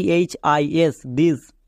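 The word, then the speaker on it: this: এর পরে আই আছে কিন্তু টি এইচ এর জন্য দোয়া হচ্ছে কেন কারণ এখানকার প্রত্যেকটি ওয়ার্ড ব্যতিক্রম এরা রুলস ফলো করে না যেমন দেখো টি এইচ আই এস দিস টি এইচ এ টি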